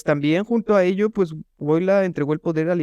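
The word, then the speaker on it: Wojtyła: Carol Wojtyla. Wojtyla, ajá, así se me olvidó cómo se pronunciaba. Creo que es Wash, con la J es como S, como SH, Wojtyla.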